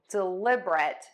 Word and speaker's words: deliberate: I actually say three syllables, dɪˈlɪbərət. But you can say four syllables, dɪˈlɪbərət, dɪˈlɪbərət. The key here is we are going to stress the lib, syllable number two.